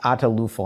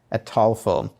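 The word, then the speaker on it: Ataulfo: I sometimes pronounce it correctly a TOEFL I pronounce it atalufo and I know that's not correct but it's a tall fold just before the show I checked the pronunciation is it's a tall film it's spelled a-t-a-u-l-f-o I believe and an easier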